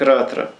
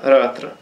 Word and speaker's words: Ратра: Это читается как Кси, это читается как Ратра. Вот верхняя вот эта звездочка Р, крест мечеобразный А, стрелочка вверх Т, опять звездочка Р, опять крест А, Ратра.